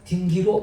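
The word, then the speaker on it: dingir: 말에서는 생략되거나 발음되지 않는 자음, 이게 탈락자음인데, 따라서 신을 뜻하는 딩기르는 R이 발음이 안 되니까 딩기로 발음이 되었습니다.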